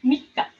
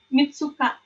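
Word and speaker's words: みっか: Jangan lupa nih, Futsuka su-nya besar, Mika su-nya kecil. Jadi dia bacanya ditebelin ya, Mika, bukan Mitsuka.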